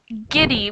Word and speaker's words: giddy: is GT on kitty it's giddy with a hard G sound kitty kitty and Fergie